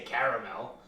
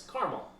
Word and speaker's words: caramel: and prosciutto and mozzarella you don't have to say a caramel it's caramel are you looking at